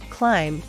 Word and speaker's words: climb: is an honest man climb silent be the children climb the